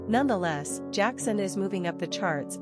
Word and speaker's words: Jaxen: Pronunciation, JAXN.